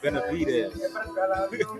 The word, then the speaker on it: Benavides: Benavides.